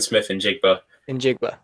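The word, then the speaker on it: Smith-Njigba: How do you pronounce that? Jackson Smith and Njigba.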